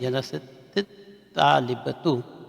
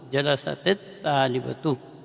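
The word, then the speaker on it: جلست طالبة: سی surgery کرنی پڑی، تا کے سکون کو کسرہ سے تبدیل کر دیے جاتے ہیں۔ اب ہم اس کا تلفظ کرتے ہیں جلست طالبتو، جلست طالبتو۔ ہمیں تھوڑا ہوشیار رہنا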